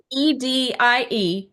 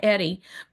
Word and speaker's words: Edie: Edie, 1D, Edie, not Eddie. Last name, M as in Mary, Elson. So let me ask you, Edie, as we end today